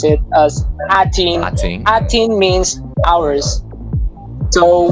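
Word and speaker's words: A'TIN: Here in the Philippines, you can pronounce it as atin.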